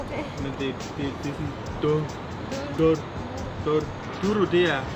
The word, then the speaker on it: Douro: Even though we just came from Douro. Sorry. Douro.